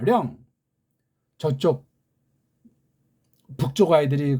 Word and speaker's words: 령: 쪽발이들이 세계주의자들이 우리 배달결의 문자를 없애버리고 우리 한문 발음을 이걸 때 영을 했어요. 아니에요. 령이라고 해야 되면 령. 령 그러지 영 그럽니까?